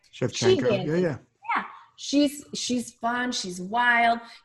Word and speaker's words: Shevchenko: Shevchenko. Am I saying it right? Shevchenko.